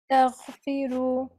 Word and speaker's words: تستغفروا: Much better, but I want you to practice in your free time having a gargle like you're gargling some water. Tell versus taghfiru. Taghfiru. تستغفروا. Much better.